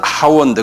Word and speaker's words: hour: 그래서 우리가 시간도 hour 그러잖아요. 본래는 hour인데, 그죠? H 발음 안 하잖아요.